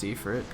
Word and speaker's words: Ifrit: I hate that it's pronounced Ifrit.